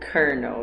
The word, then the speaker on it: colonel: yeah colonel colonel no but you pronounce it kernel yeah doesn't make it